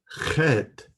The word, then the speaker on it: Heth: It is called HETH. It is pronounced at the back of the throat. HETH, a very harsh CH sound, as in Bach.